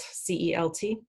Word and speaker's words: Celt: One of my contemporary romance novels, I used the name Celt, C-E-L-T, and it in Celtic, it can be pronounced Celtic or Celtic, and I pronounce it Celt.